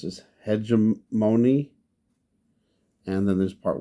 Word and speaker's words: Hegemony: Also, just wanted to say the name of this episode is, how do you pronounce this? Hegemony.